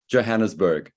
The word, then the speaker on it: Johannesburg: Johannesburg.